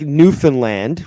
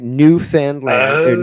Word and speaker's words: Newfoundland: But just like Newfoundland, right? New Foundland. New Foundland. They say, "No, you can't say that, Lenny. It's uh Newfoundland."